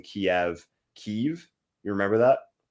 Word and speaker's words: Kiev: why does it matter if in English it's pronounced Kiev uh it's but that but you see with